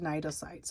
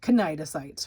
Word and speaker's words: cnidocytes: So, but it's pronounced cnidocytes. It looks like cnidocytes, right?